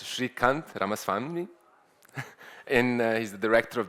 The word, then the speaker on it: Srikanth Ramaswamy: So let me introduce our next speaker, and I asked how to pronounce it correctly. It's Srikanth Ramaswamy, and he's the director of the Neural Circuits Laboratory at Newcastle University, and he's going to talk about neuromodulation.